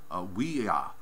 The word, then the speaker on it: Willa: been told today that the actual pronunciation should be we are I think because of the elves being silent but it by this